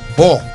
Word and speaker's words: Bò: B O pronounced as O. Bò.